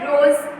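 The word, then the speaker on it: rose: तो कोई प्रोनाउंसिएशन ही नहीं है, जस्ट लाइक रोज, माइंड, ई का कोई प्रोनाउंसिएशन नहीं है, ई यहाँ पे साइलेंट है,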